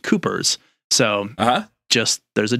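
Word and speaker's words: Cuijpers: found said that the author's name would be pronounced Coopers so just there's a J in the middle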